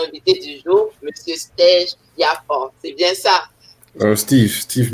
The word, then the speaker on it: Biapan: on reçoit notre invité du jour, Monsieur Steve Biafon. C'est bien ça? Steve Biafon. On ne dit pas Steve, on dit Steve. Oui. Ça s'écrit, c'est compliqué à prononcer.